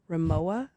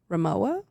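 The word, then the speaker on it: Rimowa: She has a very highpaying job and enjoys nice things like remoa. Ramoa. It ain't that serious. How do you spell it?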